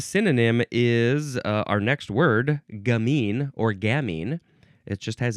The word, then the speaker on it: gamin: Gamin. Yep, that's a much more Frenchy way to pronounce that word. Gamin, gamin. And in English, it's just gammon.